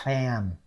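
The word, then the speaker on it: Phạm: fam fam with the the accent that drop down okay now y there's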